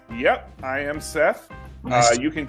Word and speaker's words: Seth: Yep, I am Seth. Nice. You can call me Sechi, Seth. because that's the way many people pronounce my name in Portuguese.